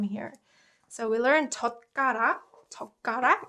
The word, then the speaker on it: 젓가락: 젓가락 is pronounced 젓가락, right? 젓가락. Because this ut gives more emphasis on 그, right?